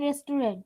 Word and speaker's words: restaurant: I can eat pasta and soup in an Italian restaurant. Very good. রেস্টুরেন্ট না, উচ্চারণ কি হবে?